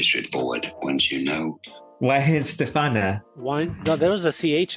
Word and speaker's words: Weihenstephaner: why stf very straight forward on you know why stefana why there was a CH in there right